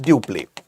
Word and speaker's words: Dupleix: Although it is written as Dupleix, it is pronounced as Dupleix.